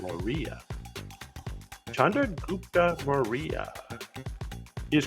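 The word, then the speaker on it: Maurya: this is Chandra gtra morah or Maria I think they pronounce it Maria Chandra gupa Maria he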